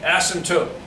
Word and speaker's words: asymptote: dashed line down here a-s-y-m acin t-o-t-e asymptote that is how you say that it is called an